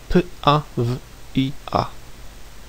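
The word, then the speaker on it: pawia: However, one of its declinated forms is spelled p-a-v-i-a, pronounced pavia, with a clear v sound, as in this case the v, or the w, does not end the word pavia.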